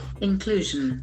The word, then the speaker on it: inclusion: part of a group inclusion inclusion there are three syllables inclusion the ACC and falls on the second syllable inclusion study modes study